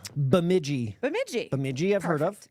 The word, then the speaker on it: Bemidji: Or just you would know how it's pronounced. Bemidji.